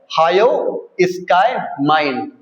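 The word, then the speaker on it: hyoscyamine: जिसके अंदर आता है एट्रोपिन और हायो स्काई माइन। ये क्या हो गया? एच वाई ओ एस सी वाई एम आई एन ई।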